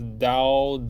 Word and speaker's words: 刀: And in case you want to know the pronunciation, again, this is dao, de, ao, dao.